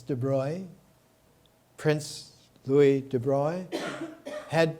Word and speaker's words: de Broglie: of the attendees louie i used to pronounce it de broglie it's de bruy prince louis de bruyne